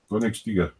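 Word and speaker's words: Königstiger: Is it Koenigstiger or Stiger? Koenigstiger.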